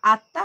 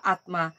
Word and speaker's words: আত্মা: আমরা যখন বাংলায় উচ্চারণ করি তখন আমরা বলি আত্মা, আর যখন সংস্কৃতে উচ্চারণ করি তখন বলি আত্মা।